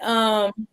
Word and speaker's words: kinesiology: Kinesiology.